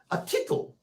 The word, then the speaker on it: tittle: Which is interesting because it rhymes with the word little. A tittle.